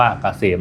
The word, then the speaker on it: เกษม: แอดไซ นำ หน้า นะ K SCM อ่าน ว่า เกษม นะ ครับ สำหรับ ท่าน